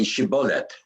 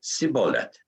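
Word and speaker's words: shibboleth: would say to him then say shibolet and he would say sibolet not being able to pronounce it correctly thereupon they would seize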